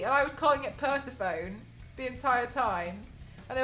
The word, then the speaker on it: Persephone: No, I'd never heard the word Persephone be pronounced. Sorry, Persephone, and I was calling it Persephone the entire time.